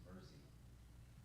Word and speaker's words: Mersey: It's not Mercy, it's Mersey.